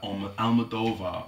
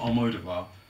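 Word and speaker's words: Almodóvar: interested in that it's very very subtle but almodova which is not aloda because um I've been pronouncing it wrong all the time it's ala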